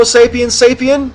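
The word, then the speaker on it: sapiens: what are you um homo sapien sapien with this emphasis on the second Sapien got to get it right Christine 13 black asks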